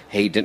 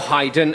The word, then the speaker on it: Haydn: in in one respect about haid hayden or or haydn as as he liked to pronounce he was he was